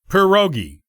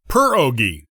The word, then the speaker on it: pierogi: By the way, if you're wondering about the correct pronunciation, it normally goes like so, pierogi. This is as opposed to pierogi, or other pronunciations we sometimes hear in the States.